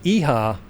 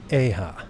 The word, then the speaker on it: EIHA: I was saying EIHA like yeehaw, like woohoo, yeehaw. Right. But it's EIHA.